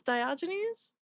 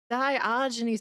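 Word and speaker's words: Diogenes: was Dioynes. Dioynes.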